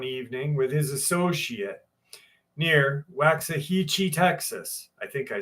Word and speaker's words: Waxahachie: Pronounce Waxahachie. Waxahachie.